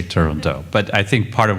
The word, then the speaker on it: Turandot: yet another possibility but we just made a decision that we would not pronounce the final t and so far we